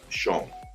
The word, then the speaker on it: Chão: Yeah, it's actually pronounced Chão.